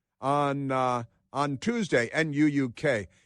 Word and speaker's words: Nuuk: the greenlandic capital of nuke on on uh on Tuesday Nuuk is that pronounced nuke like nuclear but the there it